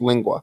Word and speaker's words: lengua: about eating a tongue lingua okay that's how it's pronounced lingua okay okay there you